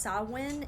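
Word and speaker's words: Samhain: um and it all traces back to It's pronounced sawin it's spelled s m h a i n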